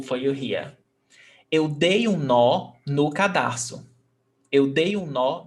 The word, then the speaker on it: nó: But nó, it's very stressed. Eu dei nó no cadarço. You see that one is stressed and the other one is not?